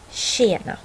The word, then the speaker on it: tjena: Här har vi några exempel. 20, tjej, tjena.